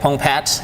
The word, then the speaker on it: Pongpaet: so my name is pongpat the E is silent it's a Thai name